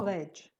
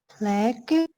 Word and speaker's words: plague: It's not pledge. What is the pronunciation? Plague.